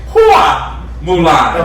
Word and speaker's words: Hua Mulan: Hua Mulan. Okay. Because we whoop ass. Oh. And. That is spelled HUA.